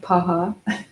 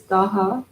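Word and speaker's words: दह: be it but then we have daha I know it looks like Paha it's daha d-a-hs for her so daha Pacha literally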